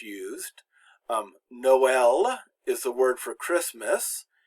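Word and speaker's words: Noël: And all that does is to show that the vowel is pronounced. It's not silent or it doesn't blend in with the previous one.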